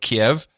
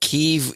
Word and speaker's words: Kyiv: longer said because that's still like 80s, but Kiev. But this Kyiv thing, we discussed this when it first showed up in the news, which was during the Obama era. Yeah. And it turns out that Kyiv is the correct pronunciation, but it's affected.